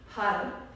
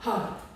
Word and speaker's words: Har: Har, H-A-R, har.